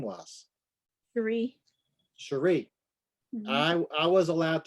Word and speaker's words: Cherie: I grew up thinking my name was because my grandmother is very southern and she mhm. could not pronounce Cherie.